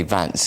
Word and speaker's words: Vance: recently JD, I think you have to say Vance is the right way to pronounce it. As opposed to Vance.